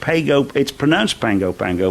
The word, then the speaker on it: Pago Pago: I'm going, when we go on the Oriana, we're going down to Pango Pango in the South Pacific. Pango Pango. Yes, it's pronounced Pango Pango, but it's spelt Pago Pago.